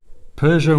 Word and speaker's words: Peugeot: Peugeot Motorcycles, and yes, that is how you pronounce it, have just signed a